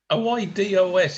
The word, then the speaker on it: oídos: En los oídos. It's ears. Oídos. Oídos. Oídos. Yeah. Don't forget the accent. The stress is on the E, and of course it's Spanish I is pronounced E.